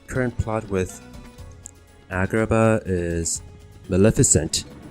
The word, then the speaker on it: Maleficent: I guess this current plot with Agrabah is Maleficent, which is, I guess, the proper pronunciation for her name.